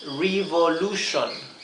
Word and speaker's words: revolution: T-I-O-N siempre se pronuncia shon, shon, así. S-H, sh, shon, shon, ¿sí? Un ejemplo es la palabra revolution, revolution.